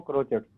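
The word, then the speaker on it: crotchets: क्या कहते हैं बाबू, क्रोचेट्स, CROCTCHETS, ठीक है। टी यहाँ पे साइलेंट है बाबू, इसको पढ़ते हैं क्रोचेट्स, ठीक है ना, टी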